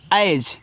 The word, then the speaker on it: as: यहां पे देखो लिखा हुआ आपका ए और एस। तो इसको पढ़ते हैं एज तो ए आपका ऐ